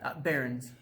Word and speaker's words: Behrens: How do you pronounce it? Behrens.